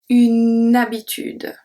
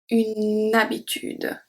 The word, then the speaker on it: habitude: We do not pronounce H like English speaker.